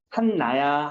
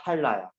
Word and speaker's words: 한라산: 발음 어떻게 날까? 한나야, 할라야. 할라로 바뀌어야 되지.